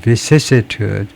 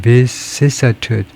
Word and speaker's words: vicissitude: 그래서 발음은 UK and US vicissitude, 영국은 vicissitude, 미국은 vicissitude, cch하고 cissa 약간의 차이인데요. 이 모음, 반모음의 차이지만 vicissitude 거의 뭐 같다고 봐도 되겠습니다.